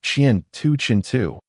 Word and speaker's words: 前尘: The Ross say war means future and is pronounced chian tu chingu while chin pronounced chian tu chinu literally means dust in front